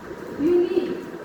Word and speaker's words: unique: What is you? That is vowel, but it is not creating vowel sound. So what will be there? Its sound is u. So it will be not considered as vowel sound.